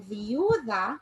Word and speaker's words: viuda: Then viuda, you will hear the U more.